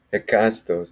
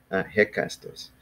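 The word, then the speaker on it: ἕκαστος: Παραγράφος εστίν επίσης μου είδε, συγγνώμη, αλλά δεύτερος, τρίτος, τέταρτος, εκάστος, έτσι. I always get those mixed up, έτσι. How do you say each? Εκάστος, ναι. I always get that mixed up with εσκατός. Hekastos. Nay.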